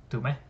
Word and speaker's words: Tume: yet but I mean it sounded pretty funny day so yeah that's just a name don't worry about it and even though it doesn't make sense when you pronounce my name properly like tum T day but like people usually how how